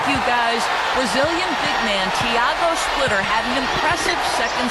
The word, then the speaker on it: Tiago: But he says the pronunciation of his first name is closer to Thiago, not Tiago.